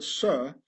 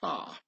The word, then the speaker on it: sir: This is why in posh upper-class British the word sir has to be pronounced sar, and not sir, yes sir, to show one's solid origins.